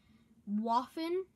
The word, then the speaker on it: Waffen: Waffen. Is like it was spelled with a W and not a V,